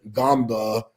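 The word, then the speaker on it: Ngongba: They got a African looking brother or not looking brother but African brother Patrick Gamba number 21. It looks like in Gumba, but the N is silent.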